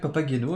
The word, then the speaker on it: Papageno: houpette aussi on dit papageno on dit papa genot papageno mais ça peut être papa guaino avec grand plaisir je